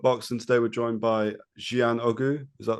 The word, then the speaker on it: Jiyan Oguz: Today we're joined by Jiyan Oguz. Is that right? Hoping that's That's correct, yeah. It's cool. Jiyan Oguz.